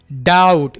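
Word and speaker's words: doubt: डाउट, बी को silent रखें, शक, आई डाउट इफ he will succeed, succeed कामयाब होना।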